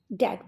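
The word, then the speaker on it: debt: डेट में B silent है, इसलिए इसको डेट पढ़ते हैं, बी को प्रोनाउंस नहीं करते हैं।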